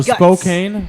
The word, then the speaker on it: Spokane: I'm gonna yeah how's it pronounced put it up spoke cocaine you st. spokane cuz whatever it sounds better Spokane Spokane okay